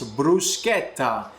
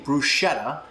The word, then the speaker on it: bruschetta: Bruschetta, the correct way to say it is bruschetta. If you're saying bruschetta, you're not saying it properly.